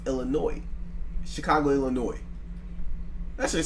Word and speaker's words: Illinois: It's pronounced Illinois. So it ain't Illinois. It's Illinois. Chicago, Illinois.